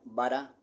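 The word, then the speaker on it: ברא: cielos y la tierra el verbo creó en hebreo se pronuncia vara se emplea exclusivamente para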